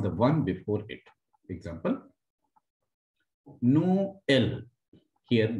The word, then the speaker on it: Noël: Example, Noël. Here, this E with tréma will be separated, which means Christmas.